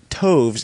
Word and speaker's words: toves: as in arrived and Toves is pronounced as to rhyme with groves again the first oh